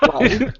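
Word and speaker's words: Walli: I should mention that it's not spelled like the terrible no, Wally it's impression me and Chris just did. W-A-L-L-I. Wally.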